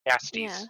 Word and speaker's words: Jastes: Jastes is how he pronounces it. Jastes.